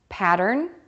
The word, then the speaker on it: pattern: P Remains the Same to say the word pattern focus on the second syllable D start with a D sound move to the R by pulling your lips back and then finish with an N pattern to say the